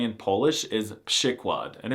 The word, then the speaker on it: przykład: 2. A pronunciation that does not at all correspond to how it's written, przykład. And 3.